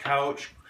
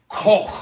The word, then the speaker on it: Koch: So all these names, Koch, Couch, are incorrect. Correct. Unless they go back before 600 AD. In German, it's pronounced Koch. You got to put the phlegm on the end of it.